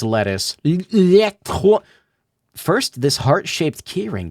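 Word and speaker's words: LeTouse: Why do you keep saying his name wrong? It's Lettuce.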